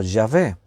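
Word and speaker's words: Yahvé: en las biblias católicas aparece como ya ve y posiblemente ya ve es más acertado que jehová en la pronunciación porque los hebreos lo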